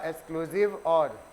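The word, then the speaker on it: XOR: बोलते हैं एक्सक्लूसिव और, एक्सक्लूसिव और, ये इसका प्रोनाउंसिएशन होगा एक्सक्लूसिव और, एक्स स्टैंड फॉर एक्सक्लूसिव, ठीक है।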